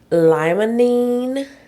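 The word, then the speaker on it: limonene: Lmonine. Is that what that Am I Did I say that right? Okay. Cuz I was like, "Wait a minute." You said it right, girl. You got it.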